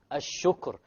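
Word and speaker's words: الشكر: Al-shukr. Look, the ra is silent. Before it is silent. But before the silent is a dhamma.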